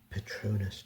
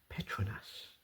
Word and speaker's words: Petronas: we are visiting the Petronus Towers as many people pronounce it internationally. Although when I went to visit I learned that the correct way to say it is Petronus.